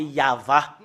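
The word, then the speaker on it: יהוה: Yod, He, Vav, He, c'est ça qu'on le prononce, c'est Yahva.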